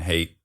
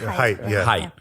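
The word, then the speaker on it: Haidt: I believe a friend of mine recommended that Jonathan hate I never pronounced that correctly. Height. Height. Yeah. He He hates when you when you say hate.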